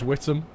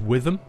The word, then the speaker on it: Witham: Whittam's a very small town. It's a really weird pronunciation, Whittam. It's, you'd think it's pronounced Witham, W-I-T-H-A-M, but it's not. For some reason, it's pronounced Whittam.